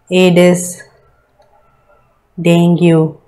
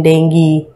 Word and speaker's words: dengue: Anopheles will cause malaria, Culex filariasis, Aedes dengue, or the ideal pronunciation dengue, right.